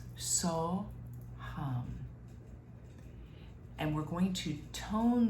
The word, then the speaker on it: So Hum: And it's 2 syllables, so, hum.